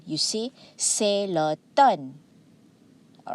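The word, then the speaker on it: automne: have say the word the letter m here is silent okay the m is silent you see celeton all right mean it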